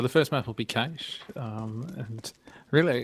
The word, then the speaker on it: Cache: I just want to say that Cache is the correct pronunciation in Australian English, which is an actual form of English, just like American English or British English.